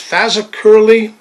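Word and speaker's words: Fazakerley: And the F means it's made at the, I think it's pronounced Fazacurley Arsenal in Liverpool.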